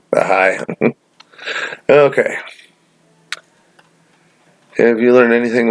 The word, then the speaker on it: Ahai: Azor Ahai, that's how I pronounce it. I didn't know how to say it. Not Ali, Ahai.